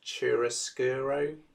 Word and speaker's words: chiaroscuro: is called, I'm never quite sure of the pronunciation, I think it's chiaroscuro.